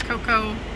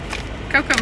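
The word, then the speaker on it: Koko: Coco means chocolate here. You see it means Coca. Cocoa everywhere. But K-O-K-O. Oh, that kind of cool. Cocoa. Yeah. It's just spelled differently, but it sounds the same.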